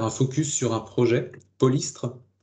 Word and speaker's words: Polystre: focus sur un projet, Polystre. Alors, Polystre, en deux syllabes, c'est Pôle pour polyculture. Istre pour huître en breton, si je ne me trompe pas.